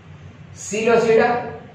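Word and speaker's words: Psilopsida: class में विरायो और five classes कड़े हैं सीलो सीडा एपी सीलो पी सीडा ना पढ़ो एपी एंड ही एपी P silent आ इनके करे इनके सीलो सीडा पढ़ो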